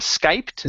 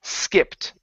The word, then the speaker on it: skipped: is going to be skipped instead of Skyped Skip Skip Skip Skip okay take off the E you're saying skipped it's skipped skip skip Okay add add the T at the end skipped is skipped is